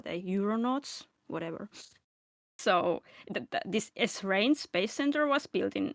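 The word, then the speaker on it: Esrange: has the I thought that this would be pronounced as Srang but is it's apparently S range.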